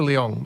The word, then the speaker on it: Leong: do you say it I would say Melissa Leong you can say Leong yeah Leong Leong yeah it's